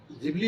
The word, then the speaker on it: Ghibli: यहां जानिए कि जिबली का सही उच्चारण और चैट जीपीटी के जरिए इस आर्ट को बनाने का तरीका।